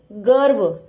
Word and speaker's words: गर्व: है कर्म अगला शब्द गर्व देखिए ग व दोनों व्यंजन के बीच में यह र है तो ग और व के बीच में र का उच्चारण आएगा गर्व हर्ष धर्म सिर्फ यही